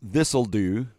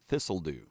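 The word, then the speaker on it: Thistle Dhu: Its name pronounced Thistledew because became mini golf lore. Thistledew.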